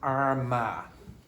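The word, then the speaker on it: Armagh: beginning with a okay the pronunciation of that is ARA ARA okay should be up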